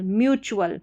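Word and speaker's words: mutual: फिर यहां पर है इसको म्यू पढ़ेंगे। ठीक है? एम यू का म्यू प्रोनंसिएशन नहीं होगा। म्यू होगा। यहां पर दिया गया है हिंदी में म्यू और वर्चुअल म्यूचुअल म्यूचुअल फिर यहां पर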